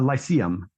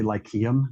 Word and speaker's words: Lyceum: pronounce it right uh lyceum yeah i see it in the mice yeah i i actually like to say lyceum because that actually is like the ancient greek version i like that sound